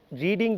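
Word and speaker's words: read: so what I am trying to say today is that যে after রিডিং the book, আমরা যেটা বলি after রিডিং দ্য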